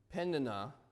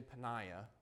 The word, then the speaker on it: Peninnah: Peninnah, I want to say Peniah, but I had to write it down for myself.